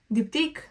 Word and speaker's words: Diptyque: Diptyque Le Papier. This is how you pronounce it.